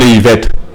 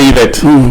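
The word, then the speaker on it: Ehivet: Donc, vous revenez, j'ai dit Yvette. Excusez-moi. Parce qu'il y a le T à la fin. Oui, mais ça ne se prononce pas, il n'y a pas eux non plus.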